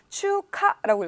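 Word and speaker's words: 中華: 중화를 뭐라고 읽냐? 추카라고 읽어요.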